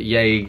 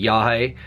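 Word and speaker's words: yagé: I know that Yage is actually Yahe, but because of how Burroughs spelled it, it is The Yage Letters. And then within, the editor has changed it so that he is actually pronouncing it Yahe, because for it to be Yahe, it has to have the accent on the letter.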